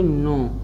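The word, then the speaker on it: know: तो इसके के यन से पहले आया है साइलेंट हो जाए, इसलिए पढ़ेंगे नो।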